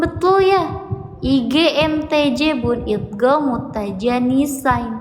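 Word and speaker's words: idgham mutajanisain: Idgam mutajanisain. Cara bacanya harus dileburkan. Jadi dalnya kalau dicontoh itu dalnya tidak dibaca ya. Masuk ke dad. Kalau ini tanya yang tidak dibaca masuknya ke dal.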